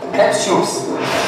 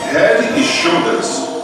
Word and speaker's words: Head and Shoulders: English very well and cannot pronounce the name of the shampoo Head and Shoulder. Head Shoes. Eu tô de brinquedo de bica. So we should have teaching people on the streets how to say it.